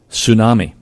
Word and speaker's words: tsunami: Tsunami. T is silent.